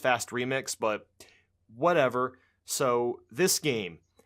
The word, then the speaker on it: FAST RMX: fast rmx I figured I think it's supposed to be pronounced fast remix but whatever so this